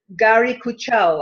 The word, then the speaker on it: Guari Kuchhal: the great pleasure of interviewing a lady called Gary Kajol I hope that's I pronounced your name right yeah good now Gary